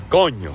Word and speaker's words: coño: Now, one of the most common, mispronunciations of the word coño is coño. People break it down into 2 syllables. Oh, coño, and they try to curse it out. Oh, what happened there, coño? No, it's one word, coño.